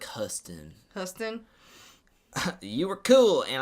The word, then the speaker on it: Houston: But it's Houston with no O in the front. So it's like Huston.